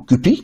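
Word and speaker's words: CUPP: Pour cela, il existe un script qui s'appelle CUP, ou CUPI, sur les prononciations.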